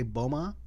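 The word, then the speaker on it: Boumah: his name is Justin I think I'm going to say Boma is how you pronounce his last name b-o-u-m-a-h seven years old he's an entrepreneur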